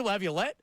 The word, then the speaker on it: Laviolette: they're hiring this guy, and I pronounced his name wrong. He goes, Peter Laviolette?